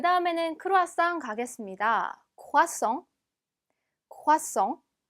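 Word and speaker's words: croissant: 다음에는 크루아상 가겠습니다 화성 콰 썽 자 보면 새와 에서 가 거의 동시에 발음이나 그래서 콰 썽 이렇게 내주시면 됩니다 단어 중간에 s 가 두 번 붙으면 쓰 처럼 발음 난다고 했어요 자 그 다음에 물론이죠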